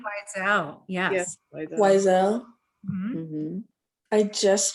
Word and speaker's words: Wiesel: Do you guys know how to pronounce that person's name? Wiesel, yes.